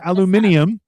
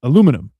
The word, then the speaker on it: aluminum: British people pronounce it aluminium and alum aluminium is not. It's aluminum is how you pronounce it.